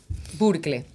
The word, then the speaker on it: Burkle: Ortiz y jul Hansel burkle no sab pronunciar mi apellido burkle burkle Ah no es alemán burkle 24 aoso vi en Estados Unidos burkle burkle Whatever con autoridad burkle a lo alemán Sí por favor bueno